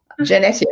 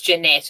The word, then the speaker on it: Jeanette: relate to that right genetic not sure i've got your name pronounced right but i just double checked that it's jeanette i know she had to